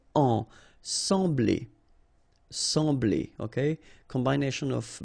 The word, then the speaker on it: sembler: So EM will give you the sound en. Okay, so you don't pronounce the M, you just get the sound en. Sembler.